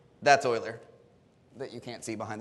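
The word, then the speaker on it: Euler: you've seen project Oiler it's Oiler not uler like you might think you will endear yourself to mathematicians if you pronounce it correctly umal uh Swiss right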